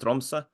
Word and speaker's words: Tromsø: And if when you first moved abroad, you've played for it's pronounced Tromsø.